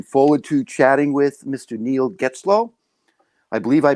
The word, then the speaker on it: Neil Getzlow: Neil Getzlow. I believe I pronounced that correctly.